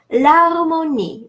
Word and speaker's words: l'harmonie: L'harmonie, the harmony, l'harmonie, l'apostrophe harmonie would be la harmonie, right?